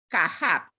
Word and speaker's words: Kahab: Cuando encuentran Kahab, que se escribe K-A-J-A-B larga, quiere decir que está compuesto por Keter, Jogma y Binah. Entonces, la terminología es Kahab. pero quiere decir Keter, o sea, la K para Keter, la T, la J para Jogma y la B para Binah. Y se pronuncia Kahab.